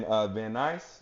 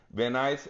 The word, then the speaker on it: Van Nuys: It was in Van Nuys. Is that how you say it? Van Nuys.